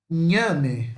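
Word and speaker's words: ñame: Ele é traduzido desta forma e ele usa esse enhe, esse N com o tio em cima, que é o nosso NH, tá?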